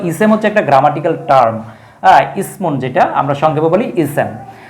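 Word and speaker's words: إثم: একটা হচ্ছে সা আর একটা হচ্ছে সিন।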